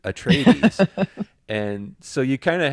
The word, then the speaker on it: Atreides: I think I used to call it Atreides, Paul Atreides, and Arrakis was the planet, but it's Arrakis and Atreides, and so you kind of have to, rethink.